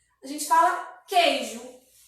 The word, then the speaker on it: queijo: Por exemplo, a palavra queijo. Queijo. Percebe que tem o Q, o E e o I. Percebe? Mas percebe que quando a gente pronuncia, o U não sai. A gente fala queijo.